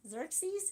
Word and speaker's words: Xerxes: they probably identify with cersei xerxes is how you say it the persian king that